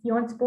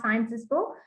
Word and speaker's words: Sciences Po: So it's Sciences Po and not Sciences Po.